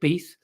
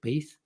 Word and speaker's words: Beath: george gruber and dick beath i think they say pronounced dick beeth um he um they